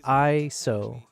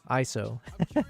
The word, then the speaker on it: ISO: It's pronounced ISO. ISO.